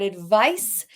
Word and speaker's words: advice: We've got 2 words that are not exactly pronounced the same. We've got advice and we've got advise. Soft C and the S makes a Z sound there.